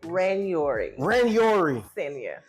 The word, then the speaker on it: Ranyouri: Ranyouri.